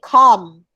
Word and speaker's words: calm: calm not calm okay calm c-a-l-m but the letter l is silent come on okay it's